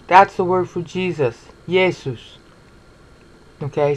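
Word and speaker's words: Ἰησοῦς: the word for Jesus yeses okay some Greek purists will say EE aces okay but that's not how they pronounce his name it that when he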